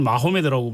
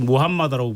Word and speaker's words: 무함마드: 우리가 뭐 우리나라에서는 마호메드라고 불렸는데 사실 무함마드라고 부르는 게 오히려 그러니까 정확한 발음 같은데 무함마드 거기서 따왔고 알리는 무함마드의 동지이기도 하고 또 한편으로는 그러니까 나중에 사위가 되는 딸이 한 명밖에 없었어요.